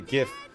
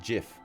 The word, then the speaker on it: GIF: G or soft G the guy who invented the graphical interchange format pronounced it with a soft G he pronounced it jiff and he told everybody